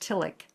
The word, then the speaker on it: Tillich: It's spelled tish but it's pronounced tilic.